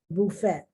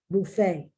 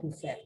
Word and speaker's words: buffet: Buffet, buffet, not buffet. Well, I've heard of buffet, but buffet, the buffet, and it's not buffet, it's buffet.